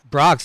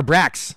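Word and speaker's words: Brach's: Brox or Brax. Brax? Brax. It's spelled B-R-A-C-H-S.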